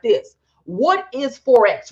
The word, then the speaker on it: Forex: what are we saying we are saying Forex like foreign exchange it is the exchange